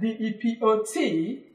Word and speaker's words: depot: We have another word, D-E-P-O-T. Can you pronounce this?